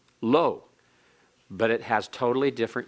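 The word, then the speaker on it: לא: The negative is spelled differently. It is spelled with an aleph. It's pronounced the same, lo, but it has totally different usage and meaning.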